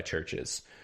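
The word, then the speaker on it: CHVRCHES: share and it's by churches church is a fairly popular band you very well have heard this song but it's really good and churches is spelled with a v this is a c-h-a-b-r-c-h-e-s but uh yeah the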